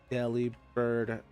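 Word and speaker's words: Delibird: So, I've been saying it right the whole time, but deli bird pronunciation.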